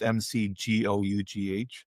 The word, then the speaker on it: McGough: I think her last name is, you pronounce it McGough. I think it's McGough. It's McGough.